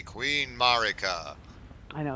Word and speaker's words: Marika: weirdest one really is like the way it's pronounced by voice actors is Marika and these people are going around calling it